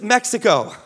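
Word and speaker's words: México: Latin America is not just Mexico. Actually pronounced Mexico, pero whatever.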